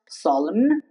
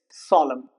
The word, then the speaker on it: solemn: French origin words here N is dropped or remains silent. For example, solemn. It's not pronounced solemn. It's solemn.